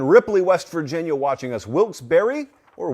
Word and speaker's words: Wilkes-Barre: Wilkes-Barre, or Wilkes-Barre, as they pronounce it where I'm from, is tuned in Pennsylvania.